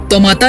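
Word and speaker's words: Taumata: लेकिन सहूलियत के लिए यहाँ के लोग इसे तोमाता या तोमाता हिल बोलते हैं।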